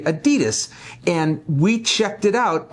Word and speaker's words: Adidas: A lot of people are going to complain because I said Adidas when here in the States we say Adidas.